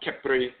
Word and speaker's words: Khepri: So people have heard about Khepra or Khepera and so forth, sometimes pronounced Khepri, but many people have not heard of Kheperit, the female divinity.